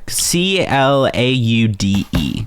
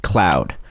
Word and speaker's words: Claude: CLAUDE. Cloud. It's like... Oh, Claude. Claude, sorry. Claude. I knew I was mispronouncing it.